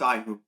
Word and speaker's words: Ihu: Oh, it's pronounced Ihu.